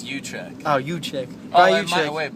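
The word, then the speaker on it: Uychich: And, so Brian Oychik, that's how you pronounce it, right? Oh, actually, it's Uchik.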